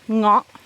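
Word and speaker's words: เงาะ: In Thai we call ngok. Ngọ. No. No, no. Ngọ. Ngok. Ngọ, yeah. Ngok. Okay. Italian pass. American ngok.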